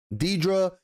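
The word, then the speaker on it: Dedra: We get to see Deidre, I believe her name is pronounced, the character's name is pronounced Deidre Miro, and Major Partagas, who is, by the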